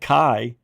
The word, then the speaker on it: Kai: She's She's trying to be a man with a name like Kai. It rhymes with die.